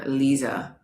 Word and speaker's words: Lisa: So in Germany and in South America they pronounce my name Liisa even though it's with an S.